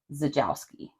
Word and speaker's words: Czajkoski: is it's Dennis and the name starts with a C but when I heard it pronounced they were saying zajowski okay and he was